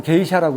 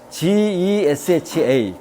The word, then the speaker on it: Gesha: 그 다음에 이제 과테말라게이샤 제가 지금 게이샤라고 했죠 원래 발음은 gesha 개샤예요 제사는 뭐냐면 여기 에티오피아 요쯤에